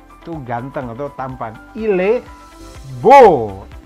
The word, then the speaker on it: beau: Il beau. Akhiran EAU itu dibacanya O ke atas kayak O gitu.